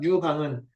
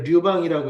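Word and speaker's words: 流芳: 유방은 원래 류방이라고 읽어야지. 흐를 류자잖아.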